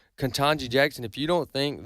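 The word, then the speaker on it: Ketanji: Uh sometimes I get her pronunciation wrong. Katanji Jackson.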